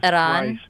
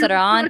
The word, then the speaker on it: Iran: The country's name is pronounced Iran. It's not even hard to say. Yeah, it's pronounced Iran. And also, I I absolutely deplore I absolutely deplore and condemn the actions of Iran in in financing terrorist organizations.